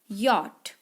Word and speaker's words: yacht: उसे कहा जाता है यॉट। YACHT इसे पढ़ते हैं YAT, यॉट।